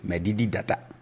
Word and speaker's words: medidi dada: So if I want to say I have eaten already, I say medidi dada. Let's put that here, medidi dada. So the tone is low on both syllables.